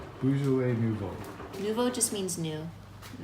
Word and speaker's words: Beaujolais Nouveau: And how do you pronounce this, babe? Beaujolais Nouveau. I say that one more time? Beaujolais Nouveau. Beaujolais Nouveau.